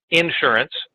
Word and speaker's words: insurance: CLU stands for Chartered Life Underwriter, so he knows about insurance, life insurance, or as we say in the South, insurance. Got to accent the first syllable.